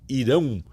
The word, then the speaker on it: Irão: We say Irão. So Brazil, Iran, and in Portugal, Irão.